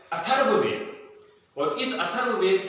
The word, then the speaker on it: अथर्ववेद: कई लोग इसको अर्थवेद बोल देते हैं, जबकि सही रूप में यह है अथर्ववेद।